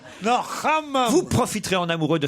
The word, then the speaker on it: hammam: Non, d'habitude, vous prononcez mieux. Le hammam. Non, hammam. Hammam. Non, hammam.